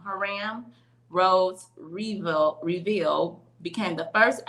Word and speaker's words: Hiram: Herman Rhodes Reveal became the first African American to serve in the U.S. Senate. I said that all wrong, y'all. Herman or Hiram. I'm saying it wrong. Hiram Rhodes Reveal became the